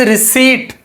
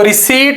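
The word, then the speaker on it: receipt: इसमें पी को नहीं पढ़ना होता। सो, द वर्ड इज़ रिसीप्ट। तो रिसीप्ट आपने इसे पढ़ना है इंग्लिश में और इसमें जो पी होगा ये साइलेंट होगा।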